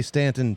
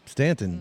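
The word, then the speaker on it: Staunton: And and well, and you say Stanton. Stanton, too. Yeah. Yeah. Stunt. Don't say Staon.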